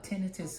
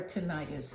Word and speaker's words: tinnitus: Hello everyone, this is and I'm here to talk to you about tinnitus of the ear, or tinnitus as some people pronounce it.